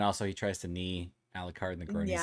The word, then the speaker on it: Alucard: or like the first fight between Trevor and Alucard.